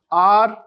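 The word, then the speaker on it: hour: So here example an apple a sound an R. Here h is silent it's R.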